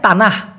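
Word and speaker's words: tanah: এবার হলো মালয়েশিয়ান ভাষায় তানাহ টি শব্দটিকে যেহেতু ওরা ত উচ্চারণ করে সেই ক্ষেত্রে হবে তানাহ টি এন এ হেইস তানাহ এই তানাহ শব্দের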